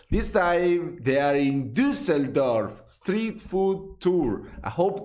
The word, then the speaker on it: Düsseldorf: Wait, it's Düsseldorf, right? The right pronunciation, the umlaut on top of the U.